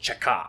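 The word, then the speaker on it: Cheka: combating counter-revolution sabotage in russian the acronym is pronounced chaca and yes this organization would be the precursor to the nkvd and later the kgb but while they were still called the chekha they would launch what's now known as the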